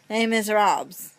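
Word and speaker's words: Les Misérables: It's spelled miserable because in English you pronounce it miserable, but it is a French musical. So you call it by its French name. Les Miserables.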